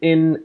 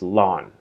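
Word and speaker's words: ln: x is equal to in x it's not in its lawn pronounced lawn like the your yard is a lawn that's what it is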